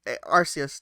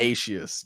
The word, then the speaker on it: Aceous: Alright, so like, okay, Arceus, do you have any opinions on like the whole That is literally the worst pronunciation of my name you could ever say.